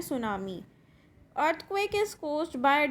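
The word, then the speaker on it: tsunami: इसमें टी आपका साइलेंट रहेगा, सो हम इसको प्रोनाउंस करते हैं सुनामी.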